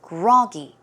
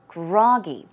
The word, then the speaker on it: groggy: So the stress goes on the first syllable. It is groggy, groggy.